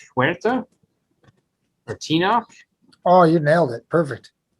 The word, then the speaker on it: Tenoch: correct us um but it's ten W or tenoch oh you nailed it perfect um I had